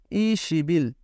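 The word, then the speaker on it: 이십일: আমরা তার পাশে লিখবো আর টোটালি এটার উচ্চারণ হবে তখন ই সিবিল যেটাকে আমরা বলব 21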